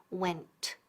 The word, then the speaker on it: went: Repeat, went. Y don't forget esa T al final, no es when. Porque si no dices, no pronuncias bien la T, when, eso significa cuando. Así que ojo.